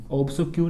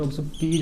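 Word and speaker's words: obsequies: अब प्रॉब्लम देखिए, प्रॉब्लम ये दोस्तों, ये ऑब्सक्यू नहीं होता है, ऑब्सक्यूज होता है।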